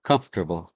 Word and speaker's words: comfortable: Comfortable. How many syllables? Comfortable. Three.